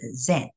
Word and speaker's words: Zen: So the Japanese pronunciation of the Chan, the kanji, the Chinese character Chan in Japanese is Zen, so Z-E-N.